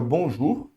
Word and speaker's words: bonjour: Então, olha aqui, vamos colocar aqui em amarelinho, o O com U fica bonjour, tá certo?